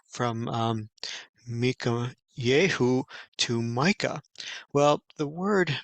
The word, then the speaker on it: Michayehu: the actual Hebrew you see his name is pronounced Mika Yahoo and so it is translated as Micah which